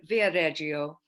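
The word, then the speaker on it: Viareggio: in the winter i think um it's in via reggio which is uh via via reggio is that the correct pronunciation yeah uh not far from here okay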